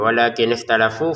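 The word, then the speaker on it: ولكن اختلفوا: Walakin di sini lamnya dua harakat. Walakinalafu ya. Walakin ikhtalafu. Funya dua harakat juga.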